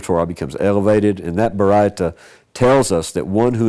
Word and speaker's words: Baraita: Yeah, a Baraita. Well, he's translating Ashkenazi Hebrew here. I would say it's Sephardic, but Baraita, instead of a Baraisa, it's a Baraita, okay?